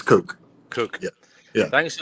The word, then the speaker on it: Koch: How do you say it? Cook brothers? It's Coke. It's Coke.